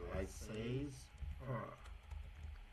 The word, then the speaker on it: laissez-faire: Okay, laissez-faire. That's how you pronounce it, colleagues.